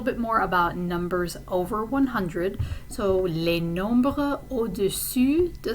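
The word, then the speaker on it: cent: So you already know that the number for 100 is 100. Okay, so you have a nasal vowel in the middle and a silent T at the end.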